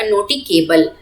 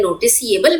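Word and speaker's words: noticeable: Spelling हो जाएगी NOTICABLE और उस हिसाब से हमारा प्रोनाउंसिएशन हो जाएगा नोटिकेबल. That is incorrect. नोटिकेबल हम नहीं पढ़ते हैं, नोटिसिएबल पढ़ते हैं.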